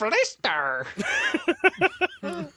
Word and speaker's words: Lister: My name is Lister.